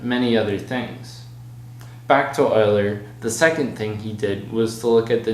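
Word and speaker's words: Euler: on a problem and yes it's pronounced Oiler don't ask me why the problem asked if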